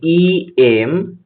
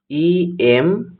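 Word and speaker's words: MBBS: এখানে দেখো এমবিবিএস শব্দের বা এমবিবিএস ওয়ার্ডটির প্রোনাউন্সিয়েশন দেখলে দেখা যাবে এম, মানে ই এম, ই এম, এম ধ্বনি দিয়ে শুরু হয়েছে, তাই এটি ভাওয়েল সাউন্ড দিচ্ছে, তাই এর আগে আর্টিকেল অ্যান বসবে।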